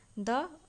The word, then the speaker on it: the: यानी कि चुरा लिया, द अदर फेरीज पंख यानी कि अन्य परी के पंख को। तो यहाँ पे अदर नहीं, यहाँ पे द नहीं दी प्रोनाउंस करेंगे क्योंकि यहाँ पे ये वोवेल साउंड आता है, इसे प्रोनाउंस करते हैं तो अदर।